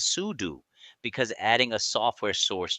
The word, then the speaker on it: sudo: We use pseudo pronounced as sudo because adding a software source changes system settings and normal users are not allowed to do this.